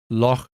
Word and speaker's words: loch: In standard English accents, this gets pronounced with a K sound, loch.